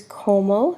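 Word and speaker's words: cómo: accent on the a how is como si o mo accent on the O with whom is con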